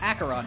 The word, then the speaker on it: Acheron: In case you were wondering, Acheron is pronounced Acheron.